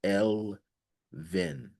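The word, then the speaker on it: Elvin: You may call me the closest sound to my name in your world is L Vin.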